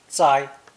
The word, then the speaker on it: 灾: The combination flood plus fire is still pronounced first tone. 灾, 灾.